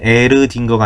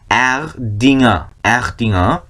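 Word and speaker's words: Erdinger: 그게 에르딩거가 아니라 에르딩어 딩거 아니에요. 딩어라고만 쓰는 게 맞습니다. 에르딩어 이런 식으로.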